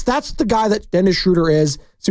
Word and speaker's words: Schröder: dots if those of you don't know Dennis shuder by way of Germany from nailing that by